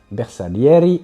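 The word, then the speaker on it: Bersaglieri: Et enfin les bersalieri, ça doit être italien donc je prononce pas le L, je crois. Ah, je crois que c'est Je crois que c'était Bessa. C'est B. Bersa Leriy Outriders.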